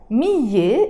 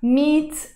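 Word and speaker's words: مية: So I don't say مِيَة مْحَبْ, I pronounce the تِ مَرْبُوتَة and I say مِيَّة مْحَبْ. And most of the times when we are pronouncing it fast, instead of saying مِيَّة مْحَبْ, we pronounce it مِيت مْحَبْ.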